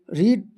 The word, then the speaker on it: read: अब इसको रीड नहीं पढ़ना है, आपको याद होगा कि रीड का फर्स्ट सेकेंड थर्ड सेम होता है, तीनों सेम होता है, पर प्रोनाउंसिएशन अलग अलग होता है। रीड, रेड, रेड।